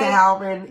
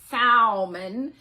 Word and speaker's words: salmon: I'm like, salmon is one of the worst words ever. It's not salmon, it's salmon.